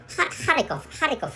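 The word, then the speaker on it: Харьков: And in Russian language, using Cyrillic letters, so Kharkov is the correct pronunciation of if you use Russian language.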